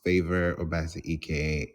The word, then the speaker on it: Favour Obasi-ike: successfully I'm your host favor obasa EK and I keep saying it like that because people are starting to say my name properly now which is quite